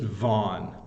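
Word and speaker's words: Vaughan: h n and it's it's just vanon vanon it's one syllable uh that's all you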